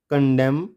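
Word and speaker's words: condemn: नहीं होगा क्या होगा कॉलम ऑटम डम है कंडम और सोलम ठीक है यह आपको पता लग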